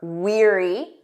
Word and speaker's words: weary: Remember weary. Repeat after me. Weary, tired or exhausted, wary.